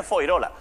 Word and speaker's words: Fuengirola: En Málaga se escribe Fuengirola, se dice Foirola.